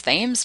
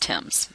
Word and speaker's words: Thames: source is the Thames I know it looks like it�s Thames but that�s pronounced tims ok 83.3 percent of